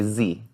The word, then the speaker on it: xie: Do you know what XIE? So you say Z.